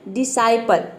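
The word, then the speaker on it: disciple: ये है डिसाइपल।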